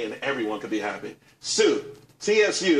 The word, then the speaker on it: Tsu: everyone can be happy soon CSU it's pronounced soo though that's a that's